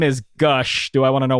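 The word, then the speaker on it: g'Ush: capital u s h like Goose or something like that I was like it's gush obviously and then my my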